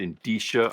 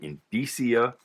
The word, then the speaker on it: indicia: the indicia uh and people pronounce it all different ways i've always said in disha i've heard people say indicia but it's um it's a